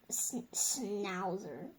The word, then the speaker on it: schnauzer: We can say schnauzer or Schnauzer, like the German Schnauzer. I've seen it spelled two different ways. I've seen it spelled the SCHN, like the typical German, and I've seen it spelled SN.